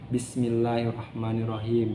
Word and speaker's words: Bismillahirrahmanirrahim: Jadi ada penekanan tuh, Bismillahirrahmanirrahim. Jadi jangan Bismillahirrahmanirrahim tuh nggak ada tasdidnya kalau kayak gitu ya.